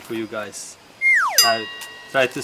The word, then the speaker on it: ui: In Dutch we call this ui. That's a hard pronunciation for you guys. Ui.